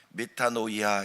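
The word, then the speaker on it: μετάνοια: 회계는 방향을 바꾸는 겁니다 회개 라고 하는 마늘 미타 노 이야 이렇게 헬라 말로 발음을 합니다 미타 노인이 야 늘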